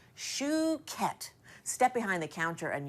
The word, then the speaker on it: Chouquette: Shoe like you wear on your foot? Shoe. Chouquette.